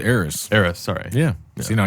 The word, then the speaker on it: Eris: Eris.